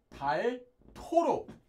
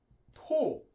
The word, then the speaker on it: 닳도록: And 닳도록, which due to sound change rule, this will be pronounced as 닳도록. 닳도록, due to sound change rules.